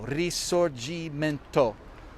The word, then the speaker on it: risorgimento: it's a good word remember it's called the resorgimento resurge resorgimento we spell it r-i-s-o-r-g-i-m-e-n-t-o risorgimento r-i-s-o-r-g-i-m-e-n-t-o got it risorgimento well i guess it